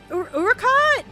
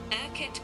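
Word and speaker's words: Urquhart: Okay, I'm I got Urkott. Is it Urkott? Pronounce. How do I pronounce it? Urkit Castle.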